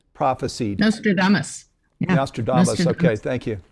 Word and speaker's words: Nostradamus: Let me see if I can pronounce this right. Nostradamus prophesied. Nostradamus.